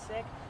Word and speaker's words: Sikh: the most respectful way what is the pronunciation that you and the community prefer imagine if you ask everyone you might get different answers I say sick I think most everyone